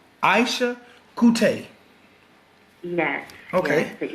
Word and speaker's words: Eisha Coutee: Yes, it's Eisha Coutee. Eisha Coutee. Yes. Okay. Yes, the E is silent, no L.